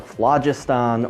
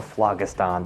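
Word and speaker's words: phlogiston: of something known as the flajustan or flagastan depending on how you want to pronounce it but vlagistan is this crazy soupy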